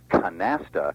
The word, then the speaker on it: canasta: with a flat more English or angelized a canasta and this is what happens with words when